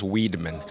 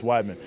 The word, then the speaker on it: Weidman: kid someone would say Weedman my teacher would call me Weedman like no it's Wiman but then I actually found out recently like my name actually might be pronounced W uh Weedman because this whole you